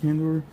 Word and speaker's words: Kandor: Is that how you say it, Kandor?